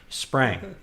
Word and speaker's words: Spring: Sprang. I know it's spelled with an I, pronounced like an A.